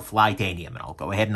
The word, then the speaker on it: Flytanium: reviewer recently uh so there's a company called flytanium and i'll go ahead and i'll drop a